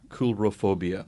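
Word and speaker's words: coulrophobia: spell that uh c-o-u-l-r-o-p-h-o-b-i-a coolerophobia c-o-u-l-r-o it's it's it sounds like coal but it's pronounced cool coolrophobia so is that beginning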